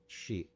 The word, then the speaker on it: Sidhe: It's not Sif. Sidhe.